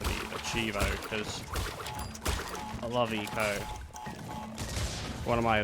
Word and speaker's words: ICO: Achievo, because I love Eco. One of my, like, favorite games, and I would love to get the achievement on it. Eco's a great game. It's spelled ICO, by the way, in case you're wondering, like, what?